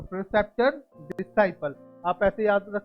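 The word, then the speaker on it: preceptor: अब देखो प्रीसेप्टर। क्या? प्रीसेप्टर, बट इसको आप बोलोगे करेक्ट प्रोनाउंसिएशन में प्रेसेप्टर। क्या? प्रेसेप्टर।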